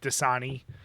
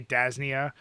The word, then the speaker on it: Dasani: words that I mispronounce like Dasani yes I used to say dasnia um but here's the